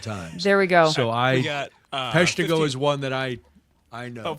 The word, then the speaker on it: Peshtigo: And thank you for the pronunciation on Peshtigo. Is that how you? Peshtigo.